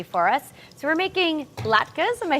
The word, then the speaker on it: latke: So we're making latkes.